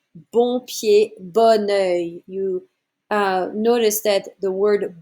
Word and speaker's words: bon œil: Avoir bon pied, bon œil, and that's because the second noun starts with a vowel, so you don't pronounce the word before it the same way.